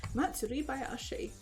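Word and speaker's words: 祭囃し: Matsuri Bayashi.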